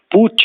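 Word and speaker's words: Putsch: the middle classes to shock the middle classes pooch in German p-u-d-s-c-h pronounced p-w-t-h violent overthrow of authority like a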